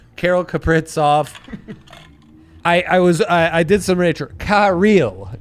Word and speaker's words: Kirill: Kirill is how it's supposed to be pronounced. The Kirill? Emphasis on the real part of it, I guess.